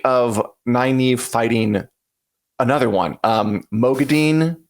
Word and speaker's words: Moghedien: Mogadine is how they say it in the audiobooks, not Mogedian or whatever, which is just memorable.